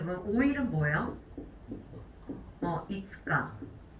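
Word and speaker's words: 五日: 이츠카. 자, 그럼 6일은 뭐예요? 맞아요. 무이카라고 읽게 되죠.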